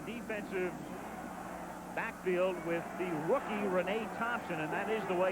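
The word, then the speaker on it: Reyna Thompson: And then the defensive backfield with the rookie Renee Thompson and that is the way it's pronounced.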